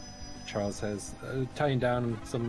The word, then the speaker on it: Xujhan: The canonical pronunciation of Xujhan is Charles, so that's me.